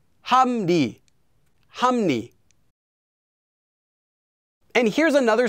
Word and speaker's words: 합리: 합리, 함리, 함리.